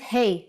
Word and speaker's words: ה: Doesn't Hey from this lesson sound like Hey in English? When you say hello to your friends? That's exactly the sound for the Hebrew letter Hey.